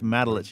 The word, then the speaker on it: Matulich: I think it's the first time I've ever heard you pronounce your last name, so I'm glad to know that. Hey, it's Matulich, M-A-T-U-L-I-C-H.